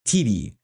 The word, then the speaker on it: Tyty: It's spelled Tyty, but it's pronounced TD, which sounds interesting.